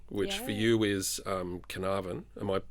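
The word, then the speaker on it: Carnarvon: for you is um Canavan. Am I pronouncing that right? Absolutely. Fantastic. I've never been there. You got to say with a bit like a twang though, like Canavan. Canavan.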